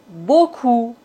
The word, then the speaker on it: beaucoup: P comme beaucoup. Trop. On ne doit pas prononcer P final.